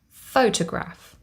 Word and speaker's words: photograph: photograph faux toe graph we have three syllables photograph foe the first syllable carries the primary stress this is shown with a little line that looks like an apostrophe toe the second syllable is unstressed and our last syllable graph carries secondary stress this is shown with